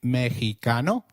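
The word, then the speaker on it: México: Did you notice that the X in Mexico is pronounced as H? While X is usually pronounced as X inflexible, it is pronounced as a throaty H in the words Mexico, Mexico, and Oaka, which is a state in Mexico.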